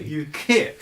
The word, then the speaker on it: UKHIP: your ukip with a h how do you pronounce it by the way usually with difficulty you Kip you Kip yeah um what is it that